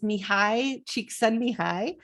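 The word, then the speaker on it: Csikszentmihalyi: just tell you that the way that you pronounce his name is mihai cheek send me high um and he is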